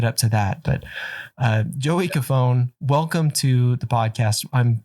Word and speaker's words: Cofone: Did I pronounce that correctly, Joey? Cofone. Cofone. Yeah, I should have said that. I should have asked. I meant to, and I totally spaced. All right. You got the like actual Italian pronunciation right. So here in the U.S., it's just Cofone.